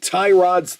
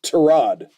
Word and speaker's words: Tyrod: because of the Heisman Trophy accepts it being pronounced Theisman just like tie Rod's tail Tyrod Taylor's name isn't tie rod it's pronounced tarad but he's too kind uh too nice to